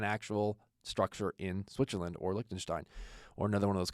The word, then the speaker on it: Liechtenstein: in the country of Liechtenstein, or as they pronounce it over there, Liechtenstein. And in this conversation, they're going to be talking about Liechtenstein as a jurisdiction.